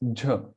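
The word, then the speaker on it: झ: ч, No, it's not jah, it's jha, ч, ч, right?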